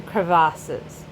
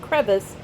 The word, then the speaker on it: crevasse: We call them crevasses. I know, it's how it's pronounced, crevasse. Not crevice, crevasse, because French is a language.